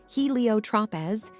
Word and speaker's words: Heliotropez: And if you're ready to dive into the world of Helio Tropez, get your copy by using the link below or go on Amazon. It's spelled HELIOTROPEZ.